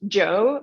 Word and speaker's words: Zhou: So it's pronounced Joe, but it's written like ZHOU.